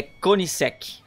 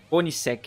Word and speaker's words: Koenigsegg: Essa marca, eu sempre falei errado, mas eu tava vendo um vídeo ali, é Koenigsegg. Koenigsegg, uma coisa assim.